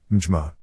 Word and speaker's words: Myanmar: In Burmese, the pronunciation depends on the register used, being either Bama, Bma, or Myanmar, Mjma.